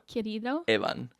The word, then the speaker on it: Querido Evan: Querido Evan.